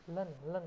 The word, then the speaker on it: ln: Logaritma natural Y dalam kurung Y tutup kurung yang harus memenuhi hubungan linear Z sama dengan logaritma len Y, bacanya len ya.